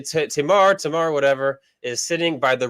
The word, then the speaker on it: Tamar: I would go Tamar because in Hebrew you usually put the accent on the end, but in America they usually say Tamar.